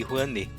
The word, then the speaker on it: Rouanet: Porque até onde eu pesquisei, a Lei Rouanet, ou Lei Rouanet, não sei qual é a pronúncia, já que é uma palavra brasileira, né? Rouanet. É Rouanet mesmo?